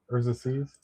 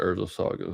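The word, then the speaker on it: Urza's Saga: Actually, Urza Seas. I'm pronouncing that right. I'm looking at Urza Sagas right now. Urza Saga. Yeah. Yeah, Saga. I said Seas.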